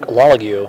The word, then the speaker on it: Lalague: And he is going to be facing down against, how do you pronounce it again? Marc Lalague.